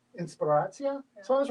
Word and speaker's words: inspiracja: Inspiracja. Inspiracja.